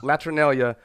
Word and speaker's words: Latrinalia: Is that how you say it? Latrinalia? Because I had to look it up. I didn't know what that. Yeah. Latrinalia. I had to look Yeah.